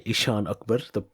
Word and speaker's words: Eshaan Akbar: I am Eshaan Akbar, or as my family would say, Eshaan Akbar, to be said the proper way.